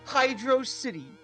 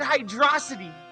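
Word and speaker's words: Hydrocity: You see Hydro City. When you see the layout, it's a Hydro City. It's literally designed like a city, and you're pronouncing it hydrosity. Like some kind of weirdo. It's not even a real word!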